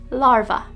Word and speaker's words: larva: guilty of this one just change the v at the end to a sound larva the next word is